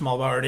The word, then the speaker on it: Muhlbauer: in the intro i appreciate that very much mulberry is so you know better than me so